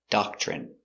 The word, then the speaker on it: doctrine: Remember when you have tr together it makes the chicken sound ch.